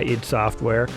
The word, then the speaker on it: id Software: So I called it ID Software because how else would you pronounce it? But no, I understand now what id means, and I do call it id Software because that's their name.